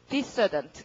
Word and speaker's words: dissident: 발음은 dissident 강세. president, resident, dissident 전부 다 접두어의 강세가 가는 거죠.